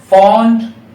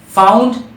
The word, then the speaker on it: fond: है फ्रेंड्स वो है फंड ऑफ एफ ओ एन डी फंड इसे फाउंड प्रोनाउंस नहीं करना है फ्रेंड्स फंड ऑफ यानी